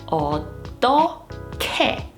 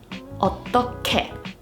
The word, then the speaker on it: 어떻게: Here, the Hieut is the 받침, but the pronunciation rule remains the same regardless of the order. So this word would be pronounced as 어떻게, 어떻게.